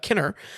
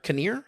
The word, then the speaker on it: Kinnear: to see Rory uh Kenner uh that is how you pronounce it right Kenner I always thought it was near Kinnear oh yeah I've never